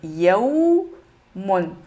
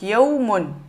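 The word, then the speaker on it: يَوْمٌ: Là, ici, pareil, il y a fatha, donc ça fait yawmun. Donc, vous voyez ici, on a le ya et la lettre waw. Donc, yawmun.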